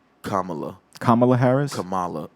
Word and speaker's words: Kamala: It's Kamala. Kamala Harris? Kamala. Not Kamala. Kamala's the wrestler. It's like Kamala. It's like you said like a comma and then la.